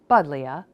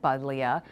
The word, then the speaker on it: Buddleia: But Linnaeus in his Species Plantarum spelled it Buddleia with the long I between the two vowels, which was common in early modern orthography. So, the pronunciation of the long I in Buddleia as a J is a common modern error.